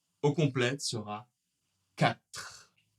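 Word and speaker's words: quatre: La prononciation au complet sera 4 4 Tu vas ? On finit bien avec le R et le E n'est pas prononcé.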